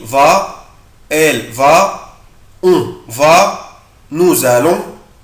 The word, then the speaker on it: nous allons: أخلي بالي هنا بنطق حرف الاس زد فنو بقولها nous allons.